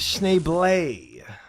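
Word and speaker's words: Schneebly: It's pronounced Schneeblay.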